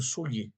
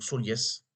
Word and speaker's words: Soliès: ou les figues de Solier ou Soliès. Je ne sais pas si on prononce tout, c'est écrit Soliès. S-O-2-L-I-E-S.